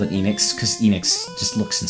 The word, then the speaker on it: Enix: for enex or Enix I always called it Enix if it was going by the pure Japanese pronunciation of the of their vowels the E is pronounced as e so it would probably have been Enix Enix but I don't know if it's supposed